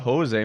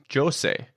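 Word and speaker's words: José: i just found out you say it's not jose mourinho it's jose as he says it in the documentary that he gets so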